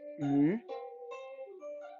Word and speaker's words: 鱼: Imagine you are saying 续, like he, she, they, that she, she, but without the sh sound.